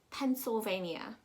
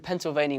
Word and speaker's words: Pennsylvania: you just want to break it down pen remember it's two ends seoul bay like survey mia like ria i'm gonna go down